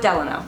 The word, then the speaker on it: Delano: For what it's worth, on the voicemail thing when you call, they say Delano. Okay, so we'll go with Delano for the rest of the time here.